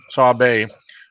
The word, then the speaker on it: Sabe: Sabway. Pronounce. Yeah. Okay. Sabe. Sabe or whatever. He broke it down. That's how it's pronounced. Sabe, to be one of the seven grandfather teachings with his representing honesty.